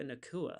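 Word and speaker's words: Nacua: Puka Nakua, I think is how you pronounce it.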